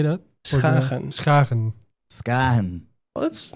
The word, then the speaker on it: Schagen: Schagen.